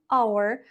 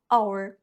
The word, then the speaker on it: hour: ми використовуємо артикль an hour. В незалежності від того, що там стоїть H, тому що вона просто не вимовляється. Ми починаємо з голосного звуку А. Our або A University.